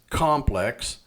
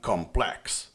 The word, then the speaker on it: complex: It is not the same as complex than complex, right? Sometimes is the adjective can have both. You can choose. Sometimes no. The verb is only the second, not the first, and the noun is the first syllable.